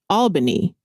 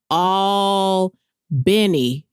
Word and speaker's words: Albany: Now, I pronounced that Albany when I first saw it. I was like, "Oh, okay. You're from Albany, Georgia." And he was like, "That's not where I'm from." He was like, "I'm from all Benny is how Okay, that's how he told me to say it.